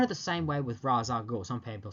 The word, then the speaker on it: Ra's al Ghul: And Carmine Falconi, or Carmine Falconi, people don't know how to pronounce that name. Kind of the same way with Ra's al Ghul.